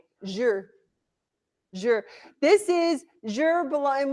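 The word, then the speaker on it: zhi: Yuan is your Z-H-I, because it sounds just like it's spelled. Z-H-I, Zhur.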